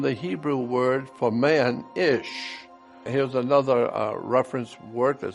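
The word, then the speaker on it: אִישׁ: Hebrew word for man, ish. Here's another reference work that said, interesting, the words for man and woman in Hebrew is identical. Man in Hebrew is pronounced ish and looks like this.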